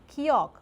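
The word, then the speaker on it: 기역: For example, kiok is a letter that made after the shape of the tongue, blocking the throat when you pronounce it, kiok or k.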